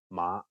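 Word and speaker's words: 馬: In Cantonese, mother is ma and horse is ma.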